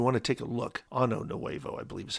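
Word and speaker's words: Año Nuevo: Now, if you want to take a look, Ano Nuevo, I believe is how you say it, Point Ano Nuevo.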